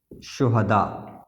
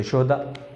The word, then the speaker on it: شہداء: دونوں ایک جیسے ہیں، اسی کو ہم شد کے ساتھ اس کے ساتھ لکھ لیتے ہیں جزم کے ساتھ تو شہداء، اسی کو زبر کے ساتھ لکھا گیا تو شہداء۔ اب تلفظ میں یہ دونوں الگ الگ ہیں، املا میں دونوں ایک